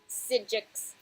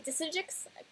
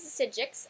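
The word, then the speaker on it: Psijic: I want to say Disijics, because it still looks like a D to me, but I'm pretty sure it's a P, and I'm pretty sure that P is silent. P for pterodactyl.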